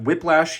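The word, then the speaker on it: Wyplash: Moving on, we got Whiplash here, spelled with a Y, w y p l a s h.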